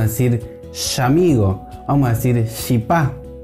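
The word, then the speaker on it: chipá: En el Paraguay y en Formosa se va a pronunciar como SH, como la SH del inglés.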